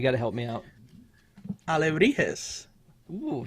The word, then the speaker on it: alebrijes: And the correct pronunciation of that, you got to help me out. Alebrijes. Ooh, say it again. Alebrijes.